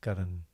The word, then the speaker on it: Karan: Just Karan.